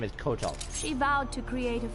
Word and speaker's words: Kotal: I love how they pronounce his name Koatal. Those who freed Melina. Even though his name is Kotal.